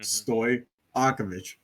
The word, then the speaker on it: Stojakovic: a lot easier because I just want to hard pronounce that J in his first name. well, it turns out you just don't. Yeah. J and Y are the same thing. Hmm. Stojakovic.